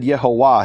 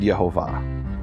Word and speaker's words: Yehovah: there's no question whatsoever if you'd ask Ezekiel to pronounce the name of God he would not have said yahuwah he would have said Yehovah you have been listening